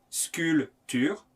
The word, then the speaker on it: sculpture: couverture la voiture la sculpture la nature on les prononce ensemble la couverture la voiture la sculpture attention ne prononce pas le p sculpture la nature à présent